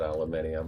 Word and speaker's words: aluminium: I don't actually pronounce it aluminium. I pronounce it the American way.